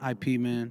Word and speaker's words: Ip Man: mean no sorry you know yeah it man ip man the way it is the way it is